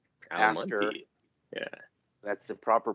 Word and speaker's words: Almonte: Almont. Oh, really? Really close It's actually by. called Almonte. Almonte. Yeah. That's the proper pronunciation.